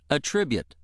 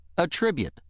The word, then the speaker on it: attribute: The other pronunciation of word to is attribute. Attribute. This pronunciation is used when word to functions as a verb meaning to assign to or credit with.